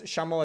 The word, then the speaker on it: llamo: You pronounce Shamo as a Chinese SH instead of the Spanish LL.